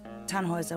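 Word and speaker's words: Tannhäuser: why what's your name tanhauser we'd pronounce it tanhoiser with an umlaut German roots yes my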